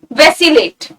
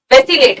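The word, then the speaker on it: vacillate: हैं, तो ये गलतियां हमसे ना हो इसलिए प्रोनाउंसिएशन पे भी थोड़ा सा ध्यान देंगे। वैसिलेट, वैसिलेट आसान है, इट्स अ वर्ब।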